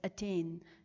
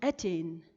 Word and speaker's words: attain: an example of i'm when you say the word attain we stress on the second syllable and not on the first so we say it as attain and not attain stress syllables are also